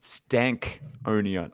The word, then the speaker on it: Stankonia: So it's pronounced Stankonia. So I always Yes, thought it was sir. Stankonia.